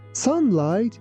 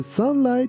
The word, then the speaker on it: sunlight: Here be careful that letter U is pronounced like A, and also the second part of this word is pronounced like light. That's why we say sunlight, sunlight.